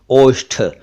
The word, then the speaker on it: ओष्ठ: लेकिन हिंदी में ये ओंठ है, ओंठ, और ओष्ठ भी है, ये संस्कृत से आया है, ओष्ठ, दोनों ही सही है, ओंठ और ओष्ठ।